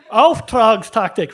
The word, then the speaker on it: Auftragstaktik: Auftragstaktik, roll that R, right?